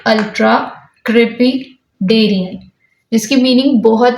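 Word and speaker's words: ultracrepidarian: You can break the word and pronounce it like ultra-crepidarian, जिसकी meaning बहुत ही ज़्यादा interesting है।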